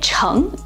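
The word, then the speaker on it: 诚: It's pronounced makoto and sei in Japanese and cheng in standard Mandarin Chinese.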